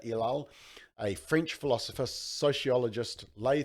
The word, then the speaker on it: Ellul: But they say that they draw from the theoretical approaches of Jacques Ellul, I think is how you say it, Ellul, a French philosopher, sociologist,